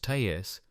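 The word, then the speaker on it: TASS: The official news agency, TAS, pronounced TAS, ran a two paragraph story.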